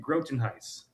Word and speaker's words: Grotenhuis: Yeah, it's uh Grotenhuis. Grotenhuis. Oh, just like it's spelled.